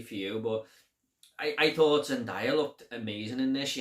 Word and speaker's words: Zendaya: And I thought John David Washington and Zendaya were... Zendaya? I always say it wrong. I think it's Zendaya.